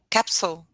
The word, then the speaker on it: capsule: Capsule. Yeah, an Capsule. American might say capsule, but an English person would pronounce a stronger U.